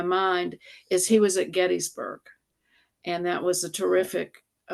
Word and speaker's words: Gettysburg: in the the small town of it's actually pronounced Gettysburg. I had a roommate who was from Gettysburg, Pennsylvania. So anyway, we say Gettysburg.